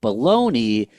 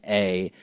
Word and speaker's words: Bologna: going with this, but bologna is spelled Bologna, which is Bologna. And you can fight me, we can argue. That word is not bologna, it's Bologna.